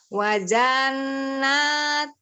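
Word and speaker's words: وَجَنَّاتٍ: Wajannatum annam. Hati-hati, jannatum min a'nabiu wa zar'u wa nakhilun sinwan. Itu cuman boleh dipotong-potong. Silahkan. Wajatum. Bukan ja, langsung wajannatum.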